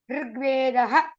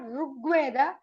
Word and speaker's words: Rigveda: Ritu, Rituhu, Rishihi, Rigvedaha. It's not Rugveda, Rigveda.